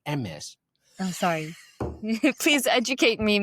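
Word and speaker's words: Hermès: Hermes, Loafers? usually. Actually, it's pronounced MS.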